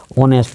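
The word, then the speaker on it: honest: क्या हो रहा है ओ से ऑनेस्ट इसका उच्चारण हो रहा है ओ से तो इसके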